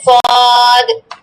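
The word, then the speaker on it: ص: সদ আর তদ বলার সময় মুখটা ভরে ফেলবে, তদ, ওয়াদ। সদ সবসময় খেয়াল করবে বদ বলার সময় যেন দালের মতো পাতলা উচ্চারণ না হয়, হ্যাঁ, যেন দটা মোটা উচ্চারণ হয়, ঠিক আছে?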